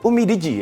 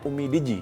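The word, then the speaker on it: UMIDIGI: kemudian ada Redmi 9 dan Perkenalkan ini adalah Umi Digi ya bacanya Umi Digi ini salah satunya Hero mobile Legends Nah untuk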